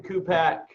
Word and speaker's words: Cupach: Cupach.